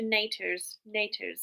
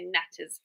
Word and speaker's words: Natters: She kept calling you Natasha Naters, and I was trying to say Natters, and I was trying to tell her how to pronounce it.